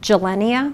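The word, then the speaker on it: Gilenya: we talked about, can you pronounce that for me, please? That's called gelenia.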